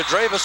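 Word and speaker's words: Drewes: it on 57 percenter d-r-e-w-e-s is the spelling dravis is the pronunciation and the rebound goes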